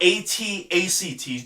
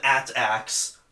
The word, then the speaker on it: AT-ACT: And then, of course, the entire Scarif sequence in general I like, except for the AT-ACTs. Don't you dare pronounce them AT-ACs.